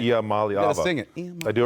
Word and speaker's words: Iamaleava: just going to call Iamaleava. Iamaleava. Okay, you got to kind of like. Gotta sing it. Iamaleava. Gotta sing it. I do it right? Iamaleava.